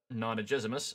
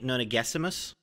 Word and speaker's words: Nonagesimus: other main characters, Harrowhark Nonagezimus. I hope I pronounced that right. There's a pronunciation guide, and I'm still bad at it. I think it's a hard G, Nonagesimus.